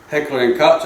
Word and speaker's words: Heckler & Koch: Heckler & Koch, I believe is the way you pronounce that.